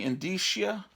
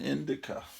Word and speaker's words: indicia: I used to call it an indica, like a moron. There's probably some early episodes that I did on YouTube where I pronounced it wrong.